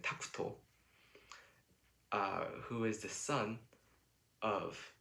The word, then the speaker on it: Takuto: Uh, and so with this background, the anime films the journey of this uh, young pianist, Tact, from, or in the Japanese pronunciation, Takuto, who is the son